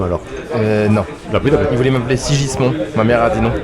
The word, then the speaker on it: Sigismond: Il voulait m'appeler Sigismond.